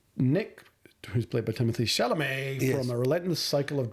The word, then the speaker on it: Chalamet: Nick, played by Timothy Shamallay. No. How do you pronounce it? The right way. Shalamé.